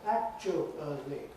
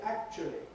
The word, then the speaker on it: actually: That was 4 syllables. Nobody pronounced it 4 syllables these days, right? Many pronounce it 3, quite a lot pronounce it only 2. So when they reduce it, they say actually, or actually. In other words, there could be a schwa for the middle bit that looks as if it's a diphthong in the dictionary, right?